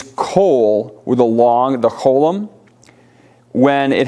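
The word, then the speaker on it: כל: It's a different vowel, but it's a shorter O vowel. Like here, kol.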